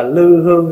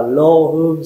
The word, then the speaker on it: lô: Là lô tô đó chữ lô là cái lò thí dụ mình đọc là lư hương xạ nhiệt nhưng mà chữ ngày xưa đọc là lô Hương xạ nhiệt Thí dụ như